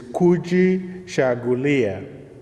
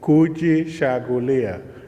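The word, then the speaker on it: Kujichagulia: you professor marlena the second celebration principle is kuji chagulia kuji chagulia as a pronunciation which means set the principle of a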